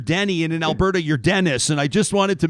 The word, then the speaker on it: Denis: Is it Denis or Denis? Am I saying it correct? How do you pronounce it? It's pronounced Denis. My mom spelt it the French way, pronounces it anglicized for whatever reason.